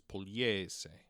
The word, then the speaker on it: Pugliese: it spelled out, because there's a silent G in there, and in pardon me, and in Italian, a G and an L next to each other make this liquid L sound, so it's Pugliese, right?